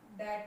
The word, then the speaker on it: debt: से पता होगा, लेकिन कई बार ये गलत प्रोनाउंस किया जाता है, डैप्ट बोलते हैं बच्चे इसको, जबकि ये डैप्ट नहीं होता है, ये डैट होता है, डैट, DEBT, डैट।